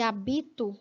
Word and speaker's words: habito: pele que eu habito você vê que a diferença se dá pela sílaba tônica né hábito que é uma proparoxítona vai ter mais força na sílaba antepenúltima e hábito que Tecnicamente tem a mesma escrita mas a diferença se dá pela sílaba tônica que não é mais sem a penúltima Então esta é propa oxítona olha aí ó proparoxítona e esta habito é paroxítona sílaba tônica penúltima sílaba tônica na proparoxítona